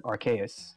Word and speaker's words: Arceus: Yeah, but then we are then brought to the next quest, the Ascent of Arceus. Mm-hmm. Right, that's how you pronounce it, Arceus. Yeah, Arceus, yeah.